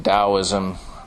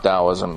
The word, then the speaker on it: Taoism: That's because the T in Taoism is pronounced like a D. And the most notable figure associated with Taoism is Lao Tzu, or Lao Tzu, which means old master.